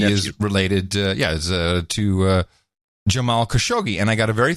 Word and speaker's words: Khashoggi: little help on pronouncing khashoggi he says he has actually he says the Italians do have a lot more fun with the Khashoggi name as they really highlight the cash part of it the Italians back in